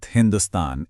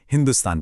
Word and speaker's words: हिंदुस्तान: हुआ यूं कि फारसी भाषा में स का उच्चारण ह होता है। तो उन्होंने सिंधु नदी के पार की जमीन को हिंदुस्तान कहना शुरू कर दिया।